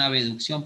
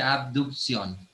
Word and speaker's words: abducción: En un examen no digan abducción porque está mal, se dice abducción, pronuncien la B, no le digan abducción, eso es de regla mnemotécnica.